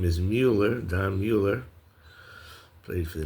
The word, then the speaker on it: Mueller: And uh I looked this up and the way to pronounce this name is Mueller.